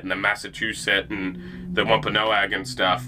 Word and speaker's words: Wampanoag: Wampanoag, yeah, Wampanoag.